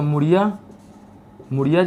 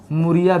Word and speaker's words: मुड़िया: यहाँ पर आपको मिलेगा मुड़िया जनजाति। और छत्तीसगढ़ी के लोग मुड़ी ड़ नहीं बोल पाते, तो उसका प्रोनाउंसिएशन ड़ से हटकर वो र हो गया है, इसलिए मुड़िया को मुरिया भी बोलते हैं।